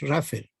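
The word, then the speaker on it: rougher: Una flotación primaria que en gringo le decimos flotaciones Raffer, que se escribe Rauher, con H por medio.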